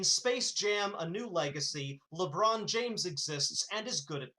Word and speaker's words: LeBron James: Do you mean LeBron James? I certainly do. Sorry, I just I I decided to correct your pronunciation there.